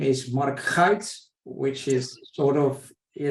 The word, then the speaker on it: Marc Guyt: you for having me my actually name is Mark Heights which is sort of you know nobody can